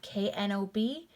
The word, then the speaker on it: knob: sound knock silent k here we have k-n-o-b that's going to be pronounced with just the n sound knob knob here we have